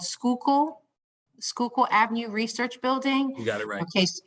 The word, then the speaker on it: Schuylkill: not from philadelphia but i believe it's called schuylkill schuylkill avenue research building you got it right okay okay thank you so schuylkill there's going to be an rfp that's going